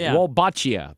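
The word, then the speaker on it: Wolbachia: say it wrong and I'll correct you wbachia don't know it W L B- A C H I A.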